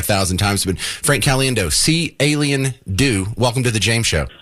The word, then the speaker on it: Caliendo: he said Frank cendo yeah you spell it see alien do and I've have always